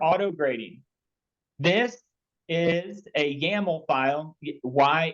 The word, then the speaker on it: YAML: grading this is a yaml file yml it's pronounced yaml um this is a